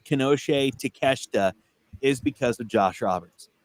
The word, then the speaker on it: Konosuke Takeshita: The only reason I know how to pronounce Konosuke Takeshita is because of Josh Roberts. That's the and he said Konosuke Takeshita.